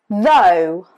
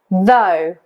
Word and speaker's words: though: Though, though. Though as in go.